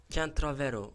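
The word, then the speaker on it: CanTravero: Kentravero, Can Travero. Hani benim kanalımın ismi Kentravero diye okunuyor. Can Travero diye yazılıyor. Bir isim değiştirmeyi düşünüyorum.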